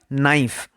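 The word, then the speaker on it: knife: এখানে কে সাইলেন্ট। উচ্চারণ হয় নাইফ।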